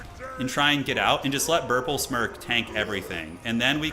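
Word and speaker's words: Burplesmirk: Burple Smurp, or whatever the hell his name is. Smirk. Burple Smirk. Oh, I've been saying his name wrong the whole time, I think.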